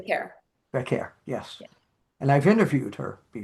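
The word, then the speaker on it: Vaquer: How do you pronounce her the name? care. Vacquer, yes.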